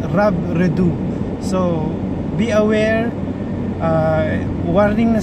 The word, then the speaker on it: Robredo: So tandaan natin ang pronunciation ng kanyang apelyido, it's not Robredo, it's Robredo.